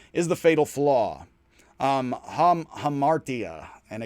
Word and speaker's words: hamartia: the fatal flaw um hamartia and again that is as i'm gonna pronounce it i've heard it differently um paradoxically the greatest